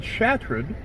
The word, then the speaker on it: Chartrand: The French settlers of the Missouri pronounced it Chatron, which from this is the modern name of Chadron evolved.